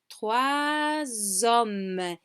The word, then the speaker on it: trois hommes: Same with three. Here now we do pronounce the S, that also becomes Z. So we say trois hommes.